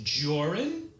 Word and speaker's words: Jorrun: My name is Joran. That's Jor, rhymes with or, and run, which is what you